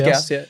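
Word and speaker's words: Gous: of I'd have I don't even know how to pronounce Gauss. it. Is it Gauss? Gauss. Is it S silent? No, No, it's Gauss.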